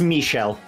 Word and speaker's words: Michel: you just call me Michelle Michel I don't know how it's pronounced come up I think it's Michelle it's Michelle Michelle okay Michel I'm sorry